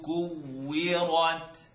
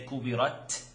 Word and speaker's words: كُوِّرَتْ: إِذَا الشَّمْسُ كُوِّرَتْ كُوِّرَتْ كُوِّرَتْ. Now we talked about the click sound at the end. You want to try not to say kubirat. Try not to get the T sound.